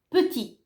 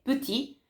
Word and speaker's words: petit: Se non c'è nessuna E, la parola finisce con la T, come petit, non pronunciate ovviamente la T.